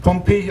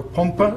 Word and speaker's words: Pompe: here story starts with jc pompey or pompa as he himself would have pronounced it the man who discovered